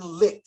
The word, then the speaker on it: Licht: General Manager Jason Licht.